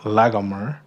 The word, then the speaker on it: Laomer: The second half of his name, Laomer, is more properly translated with like that hard G sound in the middle, Lagomer, and that was the name